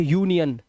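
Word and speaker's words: union: तो इसे अब इसे अनियन नहीं पढ़ेंगे। इसे यूनियन।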